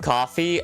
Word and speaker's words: Ko-fi: How do you give coffee? Well, the site's called Coffee. It's pronounced it's spelled Ko-Fi, but it was originally called Coffee.